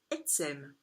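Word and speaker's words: עצם: ces germes osseux alors en hébreu les EOS se disent etsem donc ça s'écrit avec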